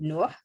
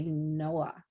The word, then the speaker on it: Nua: But you're supposed to say it like the Arabic way, which is Nua. But I think because of the A, people say Noah, Nua.